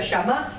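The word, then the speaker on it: שמע: Dios am entonces mire la palabra obedecer es una palabra que se pronuncia sham y significa mire Qué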